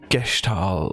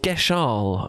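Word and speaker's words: Gestahl: my darling okay in gestal that's that's right yes gestal guest star but I believe it's pronounced geshal I'm not I don't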